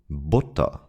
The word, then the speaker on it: Butter: And now let's have a look at the short U, which is very similar to the U sound in push. We pronounce it in this short way when it's followed by two consonants and especially double consonants, as in Butter.